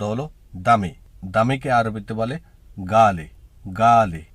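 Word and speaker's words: غالي: ভিডিওর প্রথম শব্দ হলো দামি দামিকে আরবিতে বলে গালি গালি উচ্চারণটা হবে গালি আমরা অনেকে গালি বলে থাকি গালি না গালি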